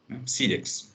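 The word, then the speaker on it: Cyriax: Sirix com C-Y-R-I-A-X. Sirix, é assim que se pronuncia.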